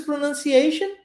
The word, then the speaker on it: pronunciation: Olha o T-I-O-N da palavra pronunciation. T-I-O-N em inglês possui um padrão linguístico. Shun, shun. Você vai ver isso na palavra action, de ação, ok? Emotion, de emoção. T-I-O-N, pronunciado shun.